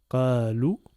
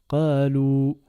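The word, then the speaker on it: قالوا: Le alif à côté avec la soukoun ne se prononce pas, c'est muet. Donc ça nous donne le mot qalou.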